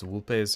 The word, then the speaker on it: Vulpes: No, in Latin, the C is a hard K sound. V's are W sound, so it's Vulpes and Colta, which is why they say Alwe true to Kaiser, not Ive true to Kaiser.